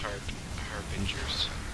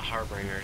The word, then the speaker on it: Harbinger: It is pronounced harbingers. What is Harbinger? It's not Harbringer. It's Harbinger.